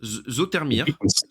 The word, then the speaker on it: Zoetermeer: J'ai essayé de prononcer le lieu où tu es né, Zoetermeer. Zotermeer. Zotermeer. Zoetermeer, ouais. Ouais, c'est ça, Zotermeer, c'est ça. ok, d'accord. Ouais, ouais, t'as bien dit. Bon, T'as bien dit, ouais.